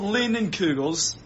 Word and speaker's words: Leinenkugel: Yeah, because I can't pronounce it. Oh man. Okay, it's Leinenkugels.